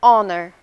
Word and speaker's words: honor: Quando pronunciamos a letra H, a hospital, a hotel. E quando não pronunciamos, an hour, an honor.